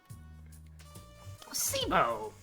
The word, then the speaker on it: placebo: Placebo. The stress test on the middle syllable.